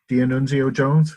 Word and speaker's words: D'Annunzio Jones: So I'm here with D'Annunzio Jones. Is that how you pronounce it?